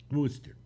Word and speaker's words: Worcester: were raised in massachusetts in concord uh worcester wooster why do i keep thinking conquered wooster like